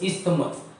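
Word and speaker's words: isthmus: ये आपका पार्ट है स्पेलिंग यहां पे एच नहीं आएगा सॉरी तो आई एस टी एच एम यू एस इस्तमस तो प्लीज रिमेंबर कि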